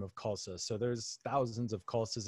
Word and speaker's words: Khalsa: say your last name uh khalsa so k-h-a-l-s-a right rhymes with salsa okay if only i